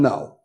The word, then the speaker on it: Noe: I said is len no it's pronounced no opposite of yes and if you ask